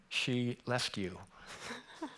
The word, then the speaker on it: Skellefteå: And for you who are not from Sweden, how do you pronounce Skellefteå? Anyone want to try it? She left you. She left you. Easy to remember.